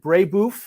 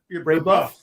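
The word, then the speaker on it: Brebeuf: I think you went it was it I'm going to pronounce it wrong. Was it Braybou? Braybuff. Brabbuff. Yes.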